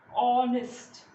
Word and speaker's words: honest: हैं तो क्या आएगा, honest. The sound that is coming is that of O.